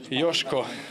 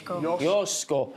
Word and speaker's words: Joško: not the first time correct pronunciation is yosko Yos yosko Yos yos yosko it's been a difficult